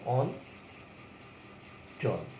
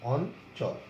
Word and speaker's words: অঞ্চল: তাহলে বলেছে কি চ ছ জ ঝ এর সাথে এটার উচ্চারণ দন্ত ন হবে। কিরকম? অন চল, এরকম উচ্চারণ হলো অঞ্চল।